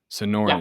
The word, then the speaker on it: Sonoran: that you're doing at the how is it pronounced institute sonoran institute yeah so this institute has been around